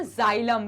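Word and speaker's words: xylem: आप देख रहे होंगे जाइलम इसको प्रोनाउंस हम जाइलम कहते हैं ठीक है इसको प्रोनाउंस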